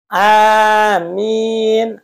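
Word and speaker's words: آمين: ya karena itu doa amin amin itu mad badal dua panjangnya amin itu panjangnya segitu jangan amin ya nanti takutnya berubah arti pendek semua Amin Amin a-nya pendek minnya panjang Amin Itu Amanah terpercaya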